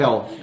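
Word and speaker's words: הל: Em Israel se chama Hel, o cardamomo, né? Com Hel. Então, É o de inferno em inglês? Se pronuncia igual, mas cardamomo em hebraico é hell.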